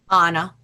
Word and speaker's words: Anna: Anna.